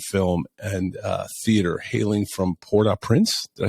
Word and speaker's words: Port-au-Prince: Cameron Arnett, who is an award-winning actor in television and film and theater, hailing from Port-Au-Prince.